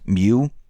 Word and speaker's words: MEU: Marines this is a Marine Expeditionary Unit meu uh pronounced Mew and they're heading to